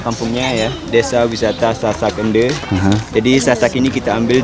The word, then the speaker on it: Ende: Ende ya bacanya ya? Iya. E-nya pelan kita baca.